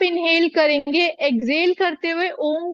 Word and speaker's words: ओम: जब आप अ बोलते हैं तो नाभि से, ओ की ध्वनि हृदय स्थान से, और माँ की ध्वनि कंठ स्थान से निकले।